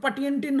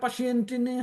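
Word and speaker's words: Patienten: মুসেন দি পাচিয়েন্টিন টুন, এটা কিন্তু পাটিয়েন্টিন হবে না, এটা পাশিয়েন্টিনই হবে। নর্মালি হচ্ছে জার্মান উচ্চারণগুলা শব্দ যেভাবে লেখা সেইভাবে উচ্চারণ করতে হয়, কিন্তু যেগুলো সাধারণত ইংরেজি থেকে আসে সেগুলো ইংরেজি উচ্চারণ নেয়। আর এইটা যদিও জার্মান শব্দ, ইএন যোগ হয়েছে, কিন্তু তারপরেও এটা অনেকটা ইংরেজির মতো উচ্চারণ হয়, পাশিয়েন্টি উচ্চারণ হবে।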